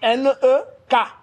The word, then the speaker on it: nek: Ça s'écrit N-E-K, nek.